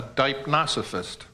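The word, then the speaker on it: deipnosophist: A person skilled in table talk is a dipnosophist.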